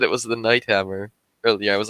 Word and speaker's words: Night Hammer: the audiobook because yeah it's pronounced the same yeah like night as in day night it's before and then